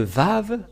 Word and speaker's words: vav: lettre araméen que le lettre vave se prononce bien vav ou V et c'est bien clair